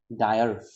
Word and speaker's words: dire: Okay, so here the pronunciation has a r sound at last. So dire need, dire. So usually when we actually speak, like for example, monosyllabic word like ha, so we don't actually pronunciate r sound over there, but here it's given like you have to pronunciate that r sound.